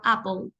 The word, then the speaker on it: apple: Apple ni Apple sino Apple la e no se pronuncia H lo mismo se